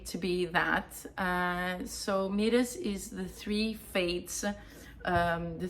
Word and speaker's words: Moires: I decided to call it Moires, which is written in a very weird way, I know. But that's how it's pronounced.